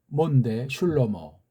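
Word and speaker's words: שלמה: 구약 발음은 슐로몬데 슐로모.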